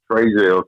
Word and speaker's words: Trazel: Yeah, so the name's Trazel, Trazel, spelled like it sounds.